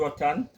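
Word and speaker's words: Roatán: Tell me your early life coming through Rotan. I pronounced that right?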